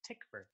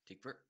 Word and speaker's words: Tykwer: up as well, and apparently the W is pronounced like a V, so it's Tykwer. Tykwer.